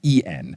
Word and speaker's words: Droylsden: I spelled Droylsden wrong. It's Droylsden, but I had typed it out Droylsden, D-O-N, which is not correct.